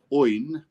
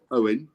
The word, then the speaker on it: Óin: something that oin and he is pronounced oyne rather than Owen I don't have that good Gaelic accent do I oh uh Peter